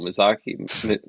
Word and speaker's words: Miyazaki: Miyazaki.